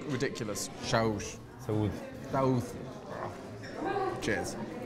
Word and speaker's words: Saúde: Saúde.